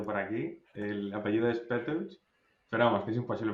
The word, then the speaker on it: Petöcz: El apellido es Petos, pero vamos, que es imposible pronunciarlo bien.